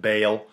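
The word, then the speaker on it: Baal: dedicated to bale b-a-a-l i say ball apparently it's pronounced bale whatever anyways the important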